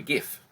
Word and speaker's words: GIF: the invention of the GIF. And it's pronounced GIF, it's not GIF. People pronounce it with GIF all the time.